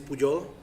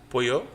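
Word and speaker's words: Pujol: The name is Puyol. Pollo? Puyol. Yeah. Chicken. Puyol. Spell it.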